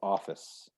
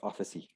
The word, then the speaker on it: office: brazilian portuguese is yeah so that's why some people were having problems with office oh office because you would lit up the whole office yes office and i've heard that from a few of my brazilian students officee yes i've seen yes and